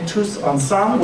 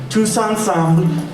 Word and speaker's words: Tous Ensemble: So the lyrics are Tous Ensemble, and you don't have, if you don't pronounce the B-L-E at the end, that's fine. Tous Ensemble, Tous Ensemble, all together we will win.